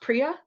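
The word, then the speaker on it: Priya: I definitely see that is your name pronounced priia yes yes okay so Pria this reminds me of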